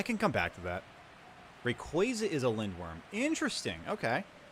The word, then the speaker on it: Rayquaza: How do you pronounce Rayquaza? It's uh Rayquaza. It's Rayquaza. Exactly.